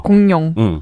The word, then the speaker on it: 공룡: 아예 포기하고 니은으로 발음하세요. 공룡.